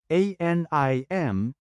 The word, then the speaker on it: anim: American letter e n a t ah then pronounce it as Lima a n i m is number six in Tagalog change a t